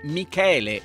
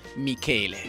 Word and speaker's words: Michele: volta per tutti che si pronuncia Michele e non Michele Michele ma ora arriviamo